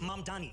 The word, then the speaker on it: Mamdani: The name is Mam Dani. M A M D A N. You can learn how to say it.